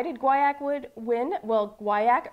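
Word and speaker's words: guaiac: guayak would win well guayak rhymes with kayak and it just sounds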